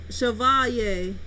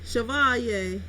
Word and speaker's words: Chevalier: Matt says great lol it's pronounced Chevalier Chevalier I should have knew that that's like a Louisiana name and it man I